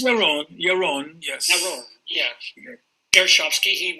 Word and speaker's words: Yaron: Is it Yaron or Yaron, or how do you pronounce it? Yaron, yes.